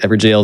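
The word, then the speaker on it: Evergaol: It's the old Everjail. English spelling of the word jail. It's pronounced the same.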